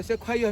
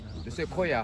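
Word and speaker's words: sequoia: 제가 영어 예술도 하는데 외국인들한테 세콰이어 하면 못 알아들어요. 세코야 하면 알아듣습니다.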